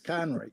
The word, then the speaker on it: Conroy: It's Conroy. They never. It's almost invariably I'm correcting the last part of it.